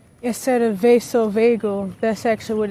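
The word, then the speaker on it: vasovagal: So, for years on end, I've been saying Virgo Vasil instead of vaso vagel, that's actually what it's called.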